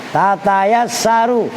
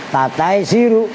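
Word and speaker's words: تتيسر: Tatayassaru. Itu bacanya yang benar, harokatin. Tatayassaru. Kalau lu nggak bisa baca, bingung. Itu apa bacanya? Tataisiru. Apa tataisiru?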